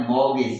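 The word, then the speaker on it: mortgage: हैं मोग ठीक है तो इसकी spelling M ओ आर टी जी ए जी ई है बट इसका प्रोनंसिएशन है मगज ठीक है टी साइलेंट रहता है रेगुलर वर्ब है मगज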